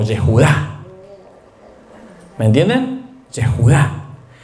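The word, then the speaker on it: יהודה: Eh, la palabra Juda en hebreo se pronuncia yejuda, así, Jehuda o Jehjudá, ¿me entienden?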